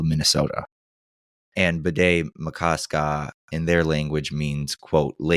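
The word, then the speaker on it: Bde Maka Ska: Oh, and if you're wondering, the lake, Bidé-Makaska, which took me, the correct pronunciation is, Bidé-Makaska. Pardon me. It's spelled BDE space MAKA space SKA.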